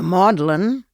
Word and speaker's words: Magdalene: The Modellin, it's spelled Magdalene, Hospital for Prostituted Women